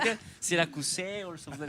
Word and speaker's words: Syracusæ: Yeah, if you say it in Spanish, it's just Siracusae. With Siracusae. Siracusae.